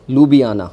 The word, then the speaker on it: Ljubljana: It has been pronounced as Ljubljana.